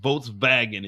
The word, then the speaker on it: Volkswagen: So it's Volkswagen. That's just a little something for you guys. It's called Volkswagen. It's not Volkswagen. Just a heads up for you guys. Volkswagen is not Volkswagen. It's pronounced Volkswagen in German.